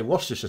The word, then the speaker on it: Worcestershire: trips up is because in America they try and pronounce like Shire. But like Shire is pronounced Shire, but when it's in a place name, it's Shire, like Yorkshire, Lancashire, Shropshire, Worcestershire. But Americans always pronounce it Shire, so they'd say Yorkshire and stuff like that.